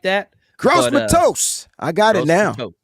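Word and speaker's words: Gross-Matos: It doesn't phonetically doesn't look like that. Gross Matos. I got it now. Matos. There it is. Gross Matos.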